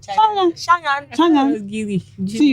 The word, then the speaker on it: Changan: It's Changan. Is what? Shangan. Yeah, Okay, we have sorry. to pronounce it Shangan.